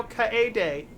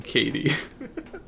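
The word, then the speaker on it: Kaede: say her name now ka day i'm very proud of you i know i learned that you have to pronounce every single vowel i'm really happy you're not saying katie i can't honestly that's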